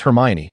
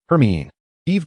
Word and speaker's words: Hermione: Ron grumbled as he watched Hermione andrumb conversing at another table, seemingly engaged in teaching him the correct pronunciation. Hermione, it's Hermione. Hermione. Her mean Eve.